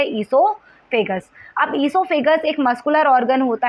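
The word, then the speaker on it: oesophagus: को क्या कहते हैं इसके स्पेलिंग ओ से स्टार्ट होती है इसका नाम क्या आइसो फिगर्स अब ऐसोफागस एक मस्कुलर अंग होता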